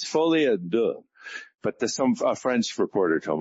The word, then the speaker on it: Folie à Deux: I made the movie and I can't pronounce it. It's Folie à Deux, but a French reporter told me that.